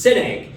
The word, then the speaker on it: Szinegh: h and it's pronounced Sy you think of a big egg with the word sin I love it well